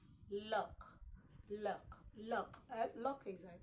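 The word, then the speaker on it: loch: we have here is l o c h look look look Lu is I think a synonym to Lake okay a bay b l so l o c h is sounded as Lo okay next we have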